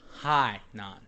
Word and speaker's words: Hainan: I have mispronounced uh mispronounced the name of the island um there is a province called henan in China however it is further north uh the name of the island is high non uh h-a-i-n-a-n um the translation of